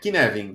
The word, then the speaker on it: Cynefin: Então, é esse o significado da palavra Cynefin, e se pronuncia Cynefin. Você troca o C pelo K e o F pelo V ali, Cynefin. Essa é a pronúncia.